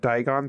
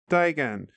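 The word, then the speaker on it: Daigian: with daon or digan I I pronounced it donon throughout the chapter but now I realized that it's not a i n it's I an so I would say d to Dyan yeah yeah n and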